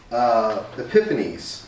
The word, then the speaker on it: Epiphanes: But Antiochus IV, his nickname, he also went by Epiphanes, I believe is the right way of pronouncing that.